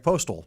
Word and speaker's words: Postel: sense why don't you say your name greg postal see it's easy postal right Vince ty Rae there you go ty